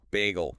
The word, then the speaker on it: Bagel: Bagel like the food spelled the same.